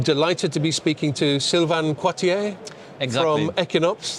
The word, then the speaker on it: Sylvain Quartier: And I'm delighted to be speaking to Sylvain Coitier from Equinox. That's my best French pronunciation.